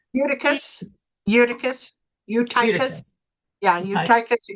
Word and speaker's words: Eutychus: Eutychus.